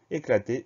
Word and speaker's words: éclater: Éclater, E accent aigu, C-L-A-T-E-R. Comme je vous l'indiquais, éclater est un verbe, c'est un verbe en ER.